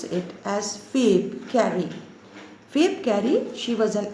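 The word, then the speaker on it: Phoebe Cary: b e p h o e b e fave carry c a r y the spelling is p h o but you have to pronounce it as fabe carry faith carry she was an american poetess and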